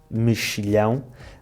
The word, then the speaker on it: mexilhão: Neste caso, o X faz o som X, mexilhão, mas claro que os nossos amigos franceses, que não seguiram o meu curso de pronúncia, nunca o poderiam ter adivinhado.